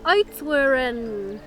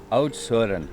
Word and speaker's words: Oudtshoorn: Oudtshoorn. She had to say it because I can't pronounce Try it. it. Oudtshoorn.